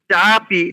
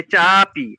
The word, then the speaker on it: চাপি: চাপি, চা আকার আছে, এইটা উচ্চারণ একটু বেশি হবে, কিন্তু পয় রস্যই আছে, ওটা হ্রস্ব, তাই চাপি।